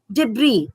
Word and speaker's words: debris: gigantic gigantic G sound debris s is silent facade key can you